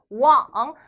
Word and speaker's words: 网: 해당 글자는 발음이 왕 자 소리내서 같이 발음 해야지 기억이 남겠죠 한번 더요 왕 한번 더요 왕 자